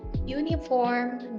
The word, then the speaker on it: uniform: Contohnya kata-kata yang diawali oleh huruf U seperti uniform dan university. Meskipun keduanya diawali oleh huruf vokal U, akan tetapi mereka menggunakan E karena jika diucapkan itu terdengar seperti huruf konsonan Y.